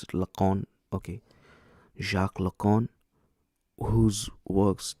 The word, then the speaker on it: Lacan: Lacan, how do you pronounce it? Lacan.